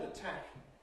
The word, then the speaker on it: attack: In fact, the word attack, as spelled on the board, is pronounced exactly the same as if we have a small nail, which can be called a tack in English.